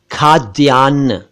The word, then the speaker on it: खाद्यान्न: और एक शब्द है खाद्यान्न खाद्यान्न इसे खान या खाद्यान ना पढ़े यह है खाद्यान एक